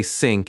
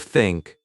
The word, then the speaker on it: think: Many learners say sink instead of think.